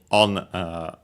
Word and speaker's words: を: Then we have the object particle o, written as wo, and pronounced as such in careful speech and also singing.